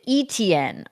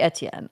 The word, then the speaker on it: Etienne: And they pronounce it Etienne on here, which really irks me because it has to be French. It has to be Etienne.